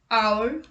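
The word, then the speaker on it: hour: with unvoiced h let's look at the examples our honest honor higher let's look at the exception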